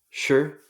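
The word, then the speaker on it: 诗: In Mandarin, Shir is how you say poetry.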